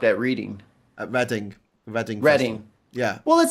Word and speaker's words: Reading: Reading. Yeah. Well, it says reading. I know. It's pronounced reading though.